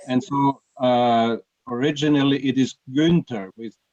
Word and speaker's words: Günther: Well, Günther, would I be pronouncing it well if I say Günther? Günther, just Günther.